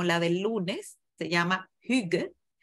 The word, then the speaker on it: Hygge: Está pronunciada con acento cibaeño. Se llama Hygge.